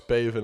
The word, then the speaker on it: Bhavan: Knox, Bhavan Architects. Yeah, I'm assuming that's pretty much how I would have tried to pronounce that it. H is silent.